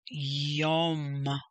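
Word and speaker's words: יום: start va erev remember when the dot is over the letter it is pronounced o so yom again the sound is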